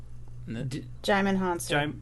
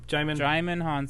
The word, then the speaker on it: Djimon Hounsou: Djimon Hounsou. Djimon Hounsou. Thank you. Djimon Hounsou.